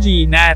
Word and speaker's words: gnat: Alam mo, pareho tayong nagtatrabaho para sa hari, ngunit kumpara sa akin, ikaw ay isang Gnat. May isang G silent, it's not.